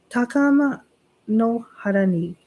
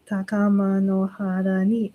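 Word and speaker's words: 高天原に: That way I'm saying it, because if I just say takama no hara ni kamutsu marimasu, like it sounds weird if I say it like that. But if I say it with the proper cadence, takama no hara ni, that's like the proper cadence sound from the ancient way.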